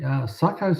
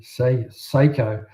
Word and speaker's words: Sako: Um GF Hutchkins, David Tyrie, Sakos are my second favorite hunting rival. Pronounced Sako. Okay. Uh they get mad if you say Seiko. I bet they do. Uh they reply with we don't make watches.